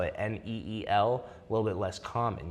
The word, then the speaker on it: Neel: So, uh, Neil, neel, it is an Indian name, but is it pronounced the same? It's pronounced the exact same. Neil.